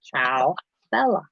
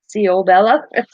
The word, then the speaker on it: Ciao Bella: She's like, Ciao Bella. Ciao Bella. Ciao Bella. Because I was like going, Ciao Bella? Because the way, CIAO, I thought CEO. CO Bella? Ciao Bella. Because she went, Ciao Bella. I'm like, oh, I guess I am saying it wrong.